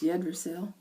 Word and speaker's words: Yggdrasil: I don't know how to pronounce it. It starts with a Y. Yggdrasil. I think it's Yggdrasil.